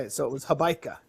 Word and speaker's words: Hobaica: it rhymes with Oh, Habaika. gotcha. Yeah, I do say. Um, I guess like when I spell it out phonetically, I write out the word bike because it's just easier for people to pronounce.